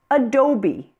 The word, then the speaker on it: adobe: Now, words that have been borrowed from other languages pronounce the final E as E, and they have no written accent on them. Some examples are adobe, machete, abalone, coyote, guacamole, karate, karaoke, sesame, acne.